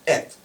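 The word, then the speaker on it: את: It's pronounced et.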